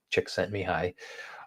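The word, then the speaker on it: Csikszentmihalyi: who no one can spell it but it's pronounced mihi chick sent mihi polish guy uh who came up with a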